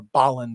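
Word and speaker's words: Bolland: put this one up just to put another Boland up um I I do uh or Boland I should say as the proper pronunciation as Joseph melkier has taught me um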